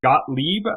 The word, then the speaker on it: Gottlieb: that ran this project, Sidney Gottlieb, I think is how his name is pronounced.